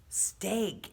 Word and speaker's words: Steig: votes other books that we read this book was written by William Steig stake is how you pronounce his last name it's a little bit